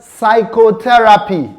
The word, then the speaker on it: psychotherapy: The next word, we have the word psychotherapy. Psychotherapy. The p sound there is silent.